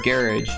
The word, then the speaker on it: garage: part, and um and garage or garage as they call it in the UK, which is where it's from.